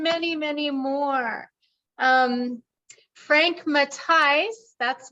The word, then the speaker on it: Matheis: many more um Frank matais that's matais uh our friend Frank is from Germany and it's pronounced matais which I just learned